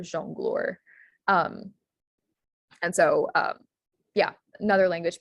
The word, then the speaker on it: jongleur: Yeah, the EUR words are, it's pronounced freezer, persifleur, jongleur.